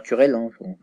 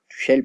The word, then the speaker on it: Tuchel: entend parler aujourd'hui de Thomas Tuchel ou Thomas Tuchel, Tuchel plutôt d'ailleurs, si on prononce à la française ou à l'allemande.